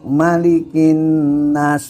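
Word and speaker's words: مَلِكِ النَّاسِ: anak kecil itu kan malikinya enggak panjang kecuali di Alfatihah bisa panjang bisa pendek ini di Annas ya malikinya itu pendek jadi malikinas gitu Nah si anak ini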